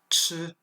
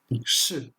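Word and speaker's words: 吃: Ce caractère se prononce ch, ce qui est le verbe manger. Et enfin, nan, ce qui signifie difficile. Donc on peut voir par exemple que là, c'est le quatrième ton, ch.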